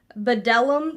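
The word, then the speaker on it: Bdellium: that I received and these are from Bellum tools I guess that's how you pronounce it b d e l l ium m tools and this is their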